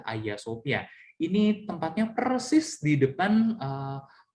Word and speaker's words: Hagia Sophia: diri dari tuh punya namanya adalah ayasofya tulisannya Hagia Sophia Tapi bacanya adalah ayasofya ini tepatnya persis di